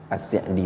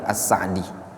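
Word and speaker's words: As-Sa'di: Sebagian para ulama ada yang bilang Abdurrahman Ass'di, ada lagi yang bilang Assa'di. Namun wallahualam ee yang masyhur kita di Indonesia ini kenalnya As'di ya. Namun kata sebagian masyaikh kita yang lebih tepat bacanya asi'di. Ass'di bukan Assa'di.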